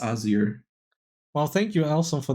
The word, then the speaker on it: Asyr: it correctly they're like is it easier is it ozier what should I it was like it's azir so yeah you can say easier if you like I don't